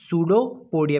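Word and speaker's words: pseudopodia: तो ये shape change करने की और जो चेंज अलग अलग शेप करता है इसको क्या बोलता है, सूडोपोडिया। पी साइलेंट होता है यहाँ पे, सूडोपोडिया।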